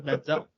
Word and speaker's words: Manziel: You spent back when he was still a thing, you spent time examining on my comedy pronunciation of Johnny Manziel, thinking that's what I actually called him. Yeah. That's Manziel.